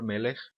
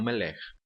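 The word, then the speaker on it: מֶלֶךְ: A tonicidade da palavra melech está na primeira sílaba, melech, tá bom? E não melech.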